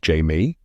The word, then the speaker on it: Haimey: Ted and I love that Magdalena calls Haimey Jamie. It's pronounced Jamie, I say.